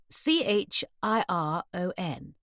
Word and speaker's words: Chiron: C H I R O N. She pronounced it Chiron.